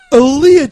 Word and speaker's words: Aaliyah: You got to make sure you pronounce both the A's. Oh, yeah. Leah. Yeah. Oh man, Queen yeah. of the Dam. If we could change Alito for Aaliyah, I think Aaliyah would still be alive.